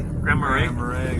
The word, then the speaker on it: Grand Marais: Grand Marais.